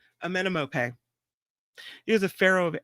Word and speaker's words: Amenemope: Wait, I didn't say it right. Amenemope. That's it. Amenemope.